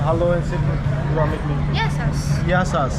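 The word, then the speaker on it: Γεια σας: Yes, Yasas. Yasas?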